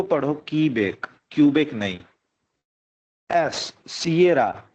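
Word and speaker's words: Sierra: एस, सियरा, सीरा नहीं, ठीक है।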